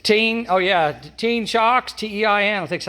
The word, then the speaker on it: Tein: It's called Tein. It's like Tein, oh yeah, Tein shocks, T-E-I-N, I think that's how you spell that.